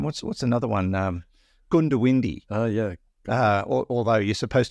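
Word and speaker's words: Goondiwindi: Gundawindi. Oh, yeah. Although you're supposed to pronounce it Gundawindi, but half the people say Gundawindi because it's spelled G-O-O-N, but people just call it Gundy.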